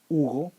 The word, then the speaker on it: Hugo: Like in my name, the H doesn't make any sound. Hugo, humano.